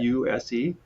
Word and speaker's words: Guse: Guse. You can pronounce it Guse, who loves Lucy.